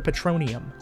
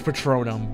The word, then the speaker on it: Patronum: That would be Expecto Patronium. What spell? I know it's Patronum, but it's just whatever.